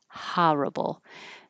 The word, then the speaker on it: horrible: And horrible, this word can be pronounced with more of an ah, like horrible. More East Coast, so you'll hear horrible maybe.